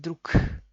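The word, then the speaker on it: друг: Oficialmente es drug. Y en realidad es druk.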